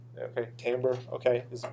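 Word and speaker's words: timbre: to say timber but it's actually a French word so we say tambra okay tamber okay is how people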